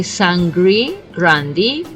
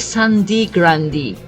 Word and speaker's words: Sangre Grande: don't understand really because I can understand if they say Sangre Grande given the fact of the E pronunciation in the English language but I don't know